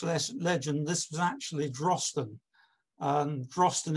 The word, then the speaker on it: Drosten: Drosten is the Pictish method of pronunciation.